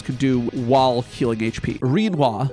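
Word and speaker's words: Rinoa: Reininoa. It rhymes with quinoa.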